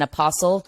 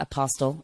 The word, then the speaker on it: Apostol: But first, let's introduce the co-hosts of the podcast, of course, Tyson Apostol, Silent T. It is not Apostol. I learned that the hard way when we first met.